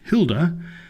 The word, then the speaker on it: Maeve: When his Irish aunt Maeve, pronounced Hilda, actually it's Maeve, pronounced